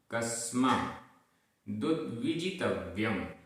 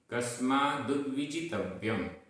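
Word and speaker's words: कस्मादुद्विजितव्यम्: कस्मै कस्मै नमः नमः सुरैरपि सुरैरपि सुतरां सुतरां क्रियते क्रियते दया प्रधानाय दया प्रधानाय कस्मा कस्मा दुद्विजितव्यम दुद्विजितव्यम। यहाँ पर आधा द व छोटी ई की मात्रा। कस्मा दुद्विजितव्यम कस्मा दुद्विजितव्यम।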